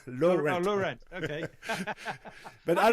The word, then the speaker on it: Laurent: Well, you gotta think, okay, it's like Laurent, like Yves Saint Laurent, but think of it as low rent, like you pay cheap rent. Low rent.